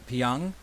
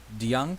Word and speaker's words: DeJong: The next guy, Paul DeJong, if I'm Paul pronouncing DeYoung. DeYoung, DeYoung.